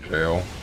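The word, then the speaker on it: gaol: It's spelled Gall, but it's pronounced jail.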